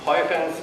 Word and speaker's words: Huygens: school physics as the Huygens principle. Since he was Dutch, I'm trying to pronounce it that way.